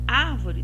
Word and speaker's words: árvore: Árvore tem acento agudo no ar. Então, já é a antepenúltima sílaba nessa palavra mais forte. Então, ela vai ser proparoxítona.